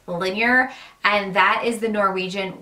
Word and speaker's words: Linjer: first off the name linear even though it's spelled with a J it's pronounced linear and that is the